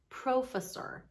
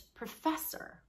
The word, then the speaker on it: professor: like program or produce they never expect to hear something like profesor because for them the emphasis is I'm faster it's professor and when you start